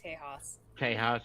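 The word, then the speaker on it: Tejas: I don't fully know teos Tas is the Spanish pronunciation of Texas Texas yeah oh that's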